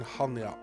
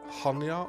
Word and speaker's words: Chania: point is here in hania which is a very nice place and here we are Hanya or or Kanya or khanya people pronounce it in different ways especially famous is this